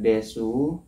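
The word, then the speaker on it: です: Jadi bacaannya desu dibaca des itu namanya bentuk sopan kalau dari sini.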